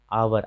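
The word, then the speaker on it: hour: जब ओ आता है तो एच का उच्चारण कई स्थान पर नहीं होता है, जैसे ऑनर, ऑनेस्ट, ऑनेस्ट मतलब ईमानदार, आवर, आवर मतलब घंटा, तो इनका उच्चारण नहीं हो रहा है।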